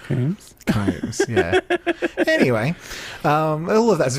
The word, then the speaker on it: Combs: Is she pronounced Combs, not Coombs? Combs, yeah.